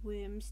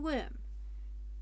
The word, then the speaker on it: Wyrm: Wyrm is a Scottish robot, hence the need to roll R's. I can't do that. And it's spelled with a Y YouTube subtitles. Anyway, to Wyrm.